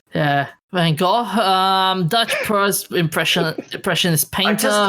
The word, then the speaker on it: Van Gogh: I can't quite do it right, but it sounds more like Van Gogh. Yeah, it sounds more like cough in Dutch than it does to say Van Gogh. Yeah, Van Gogh, Dutch impressionist painter.